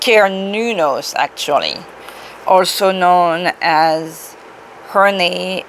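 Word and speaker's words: Cernunnos: About Sir Nunos, pronounced Nunos actually, also known as Herne, a Celtic stag god who represents connection to the earth.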